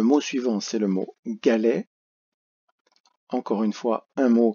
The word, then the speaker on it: galet: Les, la deuxième syllabe, le son est fait par les 2 lettres ET. Pour penser au T que l'on peut un peu oublier, on peut penser à